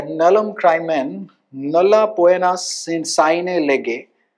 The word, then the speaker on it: nullum crimen: This is nullum crimen, या nullum crimen, nulla poena sine lege. The Latin pronunciation, you have to read it like Hindi only.